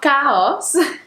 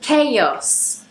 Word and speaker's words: chaos: Um, but we pronounce this not, not chaos, but chaos. We almost add a y sound.